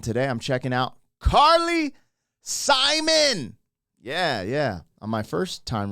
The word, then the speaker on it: Simon: And so I was like, Carly Simone. Hi, Carly Simone. Everyone made me aware that it's Simon, just like it's spelled, of course. Why?